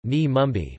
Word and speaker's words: Navi Mumbai: Navi Mumbai, Navi Mumbai Marathi pronunciation, Ni Mumbai, formerly New Bombay, is a planned city off the west coast of the Indian state of Maharashtra in Konkan division.